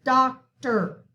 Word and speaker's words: doctor: right here doctor okay the accent is on the dock the or is in the second syllable so it gives it the sound of e r doctor same for tractor okay